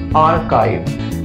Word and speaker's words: archive: I mean, I don't know how people pronounce it, but the correct pronunciation of this word would be R, like RE in Hindi. It's gonna be R, archive. We always have archive folders